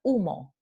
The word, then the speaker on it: humo: tenemos precisamente esto no la letra h no se pronuncia pero en el andaluz si se va a pronunciar sólo para estas palabras